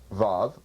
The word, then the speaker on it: Vav: can't trace it the above pronounced VAV spelled vavav in Hebrew has either a vowel sound of o or ooh or it's pronounced as a v little effish kind of v in fact it's in